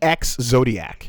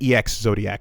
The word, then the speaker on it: Exodiac: For those of you guys looking for it, it's exodiac spelled with an e like ex zodiac is is is I had trouble finding it for a second. I'll call it I'll say ex zodiac so that people can can nail it down.